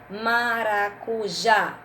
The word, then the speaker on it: maracujá: agudo na letrinha é maracujá sílaba forte é o já tem um acento agudo no a conversa no é o